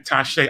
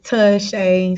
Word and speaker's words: Taushey: pronunciation of your name the correct pronunciation is touche so basically you can do it as c-u-h that shay but you know a